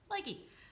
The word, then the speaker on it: Lykke: crafts yeah these um and likey is probably not how you actually pronounce the Norwegian name it's our you know bastardization of it yeah it's like IKEA I care it sells so even if I try to pronounce it the correct way is gonna sound weird yeah so lucky so umm